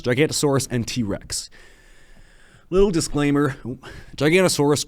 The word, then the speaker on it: Giganotosaurus: Little disclaimer, Gigantosaurus could be called Giganotosaurus. I just pronounce it Gigantosaurus because it looks like Gigantosaurus to me.